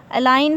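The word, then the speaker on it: align: हाँ, तो जितने भी वर्ड्स ऐसे होंगे कि एन से पहले जी आता है तो जी जो होगा वो साइलेंट होगा।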